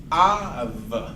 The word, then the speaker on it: of: Esta palabra es av. ¿Se acuerdan? Un diptongo, porque todas las 2 letras tienen diferente sonido. Es A, V. A, V. No es off, porque off se escribe con 2 Fs, y eso es lo